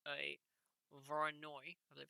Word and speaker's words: Voronoi: may see at some point is called a voronoi i believe it's pronounced diagram as such where's my pen there it is this is a voronoi diagram what this does is this simply shows